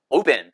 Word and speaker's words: open: 100% open 하고 쁜 발음을 하고 발음도 오가 아니라 오우라고 해요.